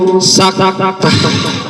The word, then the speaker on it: saktah: Tepuk tangan buat Fatih dan Ais, yaitu saktah. Kenapa? oi, sakta cara membacanya berhenti napas. Nggak boleh napas, jangan kala bal roh, nggak boleh. Tapi berhenti sejenak tanpa napas.